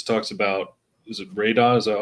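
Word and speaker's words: Raoden: that point because it talks about is it Raidon? Is that how we're pronouncing it? Raiden. Raiden.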